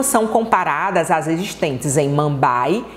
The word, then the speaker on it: Mumbai: Tirando Delhi, a gente vai ter a cidade de Mumbai, A escrita é Mumbai, mas a pronúncia é Mumbai.